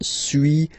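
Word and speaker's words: suis: So first one sui as you've been noticing you don't pronounce the final s.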